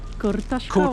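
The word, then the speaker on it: kurtoszkołacz: Kurtaszkować.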